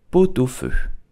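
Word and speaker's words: pot-au-feu: it in French correctly you will say potufu to here you need to make a link between the T and the a u fu do both of did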